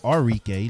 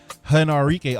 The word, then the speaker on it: Arike: and Enrique they always I'm sorry Enrique let me say it right henarike always go at it